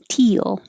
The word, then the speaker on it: teal: The word teal is just teal.